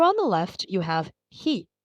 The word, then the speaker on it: へ: Over on the left, you have he, pronounced he, just like the English word he.